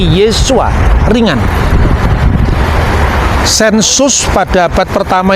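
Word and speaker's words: Yeshua: tapi i ya Nah ketika itu diucapkan dalam bahasa RAM bukan lagi Yosua tapi yesua ringan sensus pada abad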